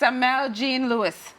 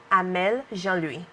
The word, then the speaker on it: Amelle Jean Louis: She wants me to pronounce it right. So Jean Louis. Okay, for us Americans and other Caribbean, it's Amelle Jean Louis. Hi, Amelle. Hi, how are you? I want you to say your name how it's properly supposed to be pronounced for our viewers.